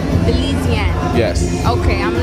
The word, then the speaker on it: Belizean: All right, we're backstage at Miss Belize California Pageant with Belize and Cuties dance group.